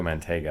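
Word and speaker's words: Mantegna: Joe Manteiga, I believe, is how you say it.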